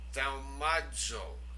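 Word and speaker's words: θαυμάζω: Thaumazo. Now notice the zeta there. It has the DZ sound to it. Thaumazo.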